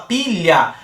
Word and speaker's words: pilha: A gente não tem o L com o H pronunciando sons diferentes. Quando a gente fala pilha, só sai, antes do